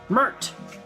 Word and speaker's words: Pmurt: Trump, Mert. The P is silent when you say his name backwards.